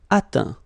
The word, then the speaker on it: atteint: Atteindre, atteint. Éteindre, éteint. Feindre, feint. Peindre, peint. Teindre, teint. Okay, as usual, final T not pronounced. Atteint, éteint, fin, peint, teint.